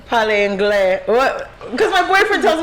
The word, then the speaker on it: anglais: And then he said, "Parle anglais." What? Because my boyfriend tells me I said it wrong. Because I said it the Spanish way, inglés.